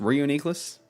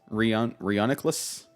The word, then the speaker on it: Reuniclus: That's another one that nobody can pronounce. Is it just Reuniqueless? Reuniclus.